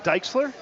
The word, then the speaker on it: Diexler: you say your last name my name is dike slur dikes good to see you thank